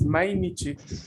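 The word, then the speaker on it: 毎日: Undo o Espera, antes no les dije la pronunciación de esos kanji, es mainichi, Mainichi.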